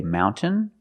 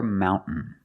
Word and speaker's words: mountain: You can say mountain or mountain.